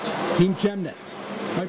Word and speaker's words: Chemnitz: Team Chemnitz. Am I pronouncing that right? Chemnitz.